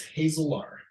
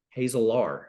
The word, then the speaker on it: Hazelaar: lovely bride Jessica and our last name is Hazel are hazel R I would have I